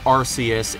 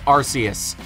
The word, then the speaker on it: Arceus: yes by the way i pronounce it arceus it just sounds better it looks like that's what it's supposed to say i don't care if you're from the uk and it sounds like arse saying archaeous is just so